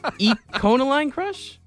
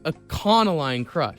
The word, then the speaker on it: Econoline Crush: So say it as if I'm talking about a convict. A conoline crush. Sure. If that's what works for you. I need to think about jail when I think about this band.